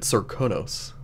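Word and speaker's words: Serkonos: That's the way that they pronounced it, Sirkonos. I think that's how Emily pronounced it in the main game.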